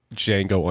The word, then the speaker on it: Django: D, and he says the D is silent, and he says, "I know." That guy who says "I know" is the original Django.